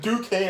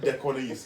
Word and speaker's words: Duquesne: How the hell did you get Duquesne out of that? I'm like, oh, okay, so it's not Dequanese.